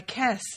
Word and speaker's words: kes: least my strength my kes jake said and although he'd never heard the word before he pronounced it correctly almost as if it were kiss yep like if it